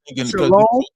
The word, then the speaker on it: shalom: broke it down you when you say shalom the O they inserted the Y for the o so when they're pronouncing it they put the Y sound separate but in actuality it's just Shalom even though the Y